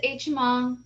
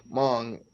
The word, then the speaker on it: Hmong: So the H is absolutely silent. Okay. Gotcha. All right. So how did the Hmong end up in Minnesota?